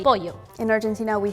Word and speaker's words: pollo: the LL, how do you say that? For us, the double L we pronounce as sh.